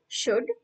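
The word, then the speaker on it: should: एल डी वुड हं या सगळ्या तिन्ही शब्दांमध्ये एल लेटर आहे पण ते सायलेंट आहे म्हणजेच आपण स्पेलिंग लिहिताना लेटर एल त्याच्यामध्ये आहे त्याच्यामध्ये लिहायचं पण जेव्हा आपण या शब्दांचा उच्चार करतो तेव्हा शुड कुल्ड वुल्ड असा करायचा नाही एल चा उच्चार करायचा नाही त्यामुळे एस एच ओ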